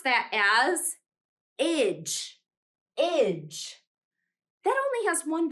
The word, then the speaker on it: -age: We pronounce that as idge, idge.